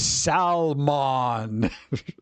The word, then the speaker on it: salmon: You don't pronounce the L in salmon. He sounds like a Lord of the Rings salesperson. It's salmon.